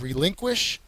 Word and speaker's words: relinquish: what relinquish means uh the second syllable is the accented one it's a verb it's